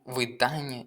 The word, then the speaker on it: видання: Запам'ятайте, що якщо в нас є якраз, як у слові зрання, оце Ання, то зазвичай наголос буде падати на Ання. Зрання, завдання, видання і інші слова, окрім тільки уподобання.